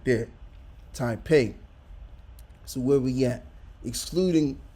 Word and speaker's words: Taipei: See if they have the pronunciation. Yeah, let's play that. Taipei. Okay, Taipei. All right, so that's how you pronounce it. Okay, so there it is right there. Taipei.